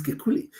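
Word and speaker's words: Kekulé: don't French people Dr I don't know whether that's a way to pronounce his name k e k u l e his name is Kuli now Kuli there was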